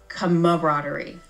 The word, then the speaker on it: camaraderie: to spell it once technically you're still saying it wrong because there is another a it's Kover rerie so really you're say